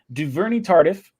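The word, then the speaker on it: Duvernay-Tardif: so i saw someone gave me the the pronunciation of it duverny tardif uh for dan brown his robbery joe d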